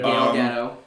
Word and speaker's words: Gal Gadot: Gal Gadot. That's how you pronounce it.